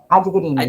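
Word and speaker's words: Adghirni: E, inclusive, é interessante, a professora Ilusca, me ajuda com a pronúncia do nome, Adguirne, enfim. Adguirne, Zélia Adguirne, foi minha professora no mestrado.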